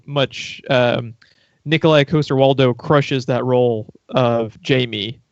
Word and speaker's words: Nikolaj Coster-Waldau: never dared pronounce it Nikolaj coster-waldau is the way you pronounce his name Nikolaj coster-waldau Nikolaj coster-waldau he sounds almost like a Mario villain or something I doesn't say so Nicolai like Russian coaster like you set your cup on and then waldo like